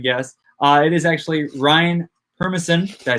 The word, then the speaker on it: Permison: It is actually Ryan Permison.